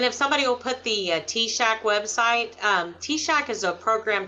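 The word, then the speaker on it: TSAHC: purchase on and if somebody will put the t-shock website t-shirt is a program Texas State affordable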